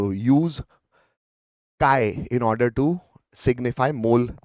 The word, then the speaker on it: chi: it is x yes obviously it is pronounced as kai technically But I say this is X.